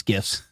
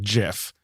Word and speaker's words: GIF: So the person who created it pronounces it GIF, Okay. but it stands for graphical interchange format or something. So I've always said GIF. I can't call it GIF.